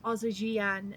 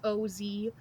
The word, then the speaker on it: Ozijiane: There is a little engraved copper sign outside the front that reads the Ozijian Estate, and that is spelled Ozijiane.